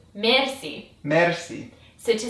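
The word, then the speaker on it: مرسی: from French words so we just make it with an IR an Iranian pronunciation and that is to roll the R so it's mer Mery so to say I'm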